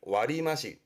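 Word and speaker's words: 割増: 그래서 얘도 발음을 와리마시, 뜻으로 가요.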